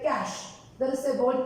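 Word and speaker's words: cache: called jargon some professionals use this one like cash there is a word called cash c-a-c-h-e most of the people cash when we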